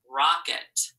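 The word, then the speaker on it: rocket: first syllable there so the first syllable is Rock second syllable It Rock it remember that ET sometimes sounds like it you might remember that from other words you've done before all right let's take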